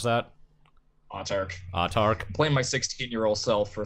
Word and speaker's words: Autarch: Is that how you would pronounce that? Autarch.